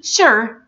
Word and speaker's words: sure: good but take care not all su is pronounced like DJ or je sound example in this word I say sure right so this means that the su is pronounced like shut sound not like juts out let's say them